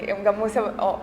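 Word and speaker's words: গামোচা: थे मुझे देना गमूसा मैंने सीखा गमूसा उसका उच्चारण है यह बहुत खूबसूरत असमीज़ स्कार्फ और एक बार मुझे नागालैंड वाला गमोर भी किसी ने दिया।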